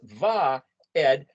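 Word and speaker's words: ועד: letter these three letters that's the u letter is pronounced as a v and it's va ed which is a nail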